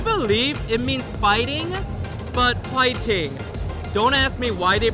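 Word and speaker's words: 화이팅: Hwaiting is, I believe it means fighting, but hwaiting. Don't ask me why they pronounce it as hwaiting but in Korea they're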